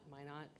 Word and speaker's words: Minot: you've been to Minot they say why not my not freeze ins the reason